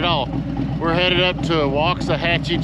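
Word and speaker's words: Waxahachie: we're headed up to walks a hatchee Texas sounds just like it's spelled walks a Hatchy I guess go beautiful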